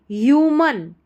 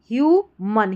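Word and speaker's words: human: ह्यूमन ह्यू ह्यूमन।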